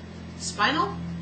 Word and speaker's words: spinel: quartz, ruby, soliditite, and spinel, like spine, S-P-I-N-E, and then an L at the end.